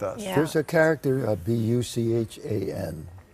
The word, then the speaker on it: Buchan: There's a character, B-U-C-H-A-N. Buchan, how do you pronounce it?